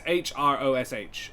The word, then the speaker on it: Hrosh: it this time um it's it's hrosh um it's it's just you just have to only pronounce one yeah it's just to